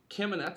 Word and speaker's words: Kamenetz: Our guest, I'm going to go right ahead and bring her on, is Anya Kamenetz. I hope I pronounced your last name correctly, Anya.